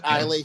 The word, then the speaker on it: Islay: that Islay shit that people usually use. Oh, And the Islay.